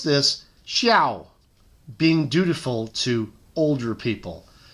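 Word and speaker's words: 孝: We pronounce this xiao, being dutiful to older people.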